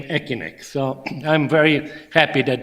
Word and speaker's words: ECINEQ: if you can notice this name is is pronounced wrongly it should be you know e but asck sounded very much economic cynic so the issue was how are we going to to pronounce that and then we decided that we should pronounce c as a k so that it became echin so I'm very happy